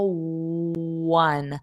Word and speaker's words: one: So remember the the pronunciation of one is exactly the same as wo n. I won the game. I scored one point and won the game. It's the same pronunciation. So you hear that W a little bit of W which is the rounded lips.